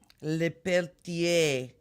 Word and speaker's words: Lepeltier: my my friend Annie lapeltier lapeltier if you don't want to pronounce it correctly say your name the French way lapeltier yeah you need to